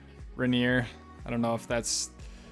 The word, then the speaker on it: Rainier: thank you my friend proper way to say it is Rainier yeah we went we went over the pronunciation of Mount Rainier before so I apologize if I said it a little bit off Rainier I don't know